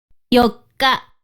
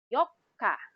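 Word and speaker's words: よっか: the month we have yoka yoka again please do emphasize the double k now fifth day of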